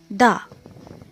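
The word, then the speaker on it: the: Next है यहाँ पर द और दी दोनों बोल सकते हैं इसको। इसका प्रोनाउंसिएशन दोनों होता है, द भी होता है और दी भी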